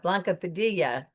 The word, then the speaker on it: Blanca Padilla: And uh today we have Blanca Padilla with us. Did I pronounce that right?